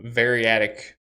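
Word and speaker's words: variadic: the second half of its arguments is a variatic argument that's how you say it meaning it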